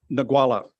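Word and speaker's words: Ngualla: And I'm going to let you pronounce the name of the start. Go on, just once for me. Nagwala.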